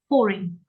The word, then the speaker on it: foreign: currency yeah pay attention we stress the first syllable foring foring foring for uh